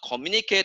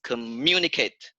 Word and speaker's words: communicate: And it's not communicate, it's communicate.